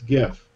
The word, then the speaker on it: GIF: wanted to talk about the proper way to pronounce GIF and it's with a hard G I don't care what